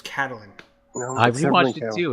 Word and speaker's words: Catelyn: Yeah, Catelyn. You guys keep mispronouncing her name. It's Catelyn. Nope, it's Caitlyn.